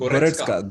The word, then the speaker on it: Goretzka: How do you pronounce? Goretzka.